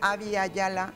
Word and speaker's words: Abya Yala: esa zona y entonces se pronuncia había ya la no vida ya la